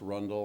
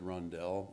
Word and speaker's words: Rundle: The Rundle edition, I have heard it most commonly pronounced Rundle, although some have said Rundell. I'll stick with Rundle for now.